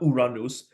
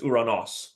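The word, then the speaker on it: Ouranos: in the previous video it's not Uranus it's uranos okay uran please forgive me so uros and by this one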